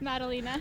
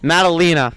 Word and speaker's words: Madalena: We are here with Madalena. Did I say her last name right? No, that's okay. How do you say it? Madalena. Madalena. That was close.